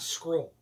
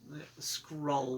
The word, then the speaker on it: Skrull: I heard Scroll. Well, I say it wrong. Skrull.